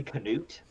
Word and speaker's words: Knut: Is it really Canute? I've always pronounced it nut, but Yeah. I've always pronounced it nut. I've been listening to the audiobooks and they say Canute, so Oh, that's What the hell?